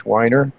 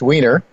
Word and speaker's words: Wiener: idea whose time has come David Jensen Keith whiner Keith Wiener why should pronounce his name correctly and Michael Oliver return